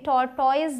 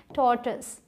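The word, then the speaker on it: tortoise: मैं उन सब तक ये बात पहुँचाना चाहती हूँ कि इसे टॉर्टॉइज नहीं बोलते, इसे बोलते हैं टॉर्टस।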